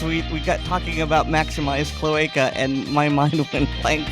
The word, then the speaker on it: cloaca: Cloaca. Or cloaca. I like the Latin pronunciation.